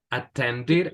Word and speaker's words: attended: bake, look, Looked, allow, allowed, allow, listen, listened, attend, attended. Aquí sí, porque hay una D antes de la E.